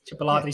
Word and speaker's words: chipotle: dipped in i can never see is it chip chipper latte sauce is that how it's pronounced chipotle sauce chipotle chipotle yeah chipotle sauce and it